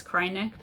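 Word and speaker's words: Kreinik: pronounce it is it cray nick is it cry-neck and i think it was caitlyn who said it's cry-neck because when you use it you cry it is not very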